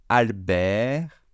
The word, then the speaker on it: Albert: Donc, prénom plus nom, ça nous fera Albert Camus. Je ne prononce pas le T final, je ne prononce pas le S final.